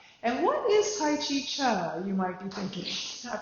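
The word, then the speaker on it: Chih: It's pronounced Cha, like chuck wagon.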